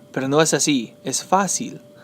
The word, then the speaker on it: fácil: Fácil. Muchas veces, the students, like Spanish too, they like to say fácil. Pero no es así. Es fácil. Fácil. The stress is over the A.